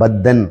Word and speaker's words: பத்தன்: இங்க எப்படி உச்சரிக்கணும்? பத்தன் அப்படின்னு உச்சரிக்கணும், பத்தன் கிடையாது. இது சமஸ்கிருத சொல்.